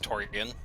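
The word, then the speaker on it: Tourian: I'm here to say that it's pronounced Torian, not terrain.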